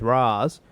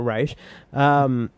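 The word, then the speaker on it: Ra's: Arrow as well with Raz or Raish or however they want to fucking pronounce it on this show. Raish is the correct way. We pronounce as it we've correctly. discussed before. Raish.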